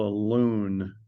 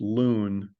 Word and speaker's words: LUN: use something called a loon it's spelled Lun but it's pronounced loon um is created and